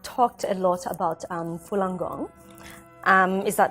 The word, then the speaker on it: Falun Gong: some Antiguan we've talked a lot about um Falun Gong is that how am i pronouncing it right yeah Falun Gong yes what is the actual meaning of that